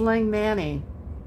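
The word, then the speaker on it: Langmanni: crazy Denise what's wrong it's Lang Manny l a n g m a n n i is the name on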